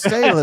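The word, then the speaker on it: Taylen: It's Talon.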